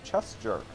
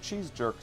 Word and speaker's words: Chess Jerk: $50 from one of my stream regulars, Chess Jerk, whom for years I mispronounced his name as Cheese Jerk, thinking he was someone who stole cheese. Nice.